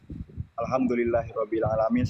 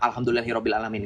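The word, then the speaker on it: الحمد لله رب العالمين: Ketika di dalam surah Al-Fatihah, kamu baca yang benar. Alhamdulillahi Rabbil Alamin. Kan gitu bunyinya, bukan Alhamdulillahi Rabbil Alamin. Gak ada makhrajnya, gak ada panjang pendeknya. Gak jelas bacanya.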